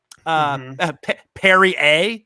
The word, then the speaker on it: Peria: These are from a brand called Peria. Perry A. The A is capital over here. But that's spelled obviously like the drink.